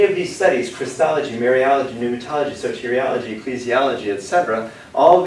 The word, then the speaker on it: pneumatology: the study of mary pneumatology spelled with a p n almost like pneumonia pneumatology is the study